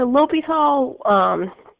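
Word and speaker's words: L'Hôpital: going to help us with improper integrals so Lobethal he's French which is why we don't pronounce the X in the same but he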